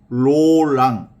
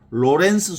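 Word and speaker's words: Laurent: 그 하느님의 현존을 가장 극적으로 잘 실천한 인물 중에 하나가 바로 17세기 깔멜 수도원의 그 부활의 로랑 블란스어로는 로랑이라고 하고 영어로는 영어식 발음으로는 로렌스 수사라 그러지 로랑 수사 또는 로렌스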